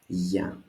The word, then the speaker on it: Γεια: As you notice, there is no accent here. This is because actually we don't need an accent. It's only one syllable. It is a short word to say so. So it is just Γεια.